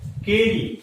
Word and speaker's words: Carew: The true beauty has been composed by Thomas कैरू, but we will pronunciate Carey, C-A-R-E-Y, not कैरू।